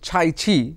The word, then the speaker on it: Cai Qi: এই যে উচ্চারণটা এটা অনেকে সাই কি বলছেন অনেকে সাইছি বলছেন যেটা মূল মান্দারিন চাইনিজ উচ্চারণ আবার অনেকে বলছেন কাইকি আমরা মূল যে মান্দারিন উচ্চারণ ছাইছি আমরা এইভাবেই বলব যদিও সাইকিও অনেকে বলছেন আমি প্রথমেই চলে যাই